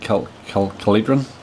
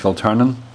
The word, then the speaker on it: Kiltearnan: Supercross Cup at, well, I was pronouncing it Kiltearn. It's actually pronounced Kiltearnan.